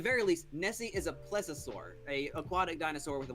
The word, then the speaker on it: plesiosaur: But there's like multiple different ones because like they're all in the classification of plesiosaur.